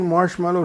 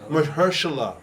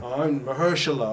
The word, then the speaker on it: Mahershala: Isn't Marshmallow supposed to play Blade? Yeah, Mahershala.